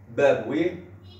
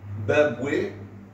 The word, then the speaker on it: بابويه: عنده ولذا قال ابن بابويه قال اعتقادنا في التقيه انها واجبه ابن بابويه تنطق هكذا وتنطق بفتح الياء بابوي كلاهما ايضا واحد وهو من اشهر ائمه